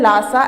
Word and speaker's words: Lhasa: friends, Tibet का जो capital है लासा, LHASA जिसकी स्पेलिंग है, लासा को फॉरबिडन सिटी के नाम